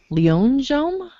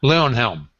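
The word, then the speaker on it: Leyonhjelm: rant next time okay David leonam is an Australian Senator is that how that's pronounced Leon Helm okay Leon Helm is an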